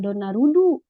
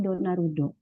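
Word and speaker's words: ドナルド: Tidak donarudu, tapi donarudo.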